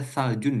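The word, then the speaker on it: ثلج: Tapi di bahasa Arab memang ada tsaljun ya. Pakai tsa tapi tsaljun.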